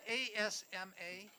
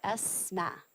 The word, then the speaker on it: Asma: Is that ASMA? That is correct. Okay. It's ASMA, and it's pronounced like the letter ESMA.